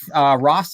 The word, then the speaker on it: Rost: Jake Rost, am I pronouncing your last name right? Yeah, that's correct. Rost.